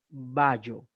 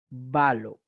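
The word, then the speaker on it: βάλλω: El punto viene en que jamás pronuncien ballo, balo.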